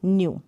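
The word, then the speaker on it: knew: उच्चारण यू करके होगा जैसे न्यू ये न्यू ठीक है यहां पर के जो है साइलेंट है दोनों अलग-अलग है ये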